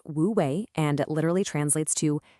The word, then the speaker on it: Wu Wei: It's pronounced woouei and it literally translates to effortless action.